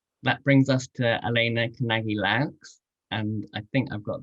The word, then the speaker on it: Kanagy-Loux: That brings us to ELENA KANAGY-LOUX, and I think I've got that pronunciation right, having checked it with her beforehand.